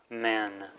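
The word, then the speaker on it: སྨན: Sa, mata, ma, na, men, medicine. So the a becomes e, and we pronounce the n, getting men, medicine.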